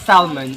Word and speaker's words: salmon: At saka guys, Ang salmon hindi pala to. hindi. Mali pa rin yung aking pronunciation. It's not salmon, it's salmon. Yan. Silent L.